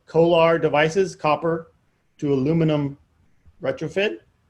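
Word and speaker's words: CO/ALR: And so they have these things called Kolar devices, copper to aluminum retrofit, C-O-A-L-R, but they pronounce it Kolar, C-O-A-L-R for copper and aluminum, and R's for the retrofit.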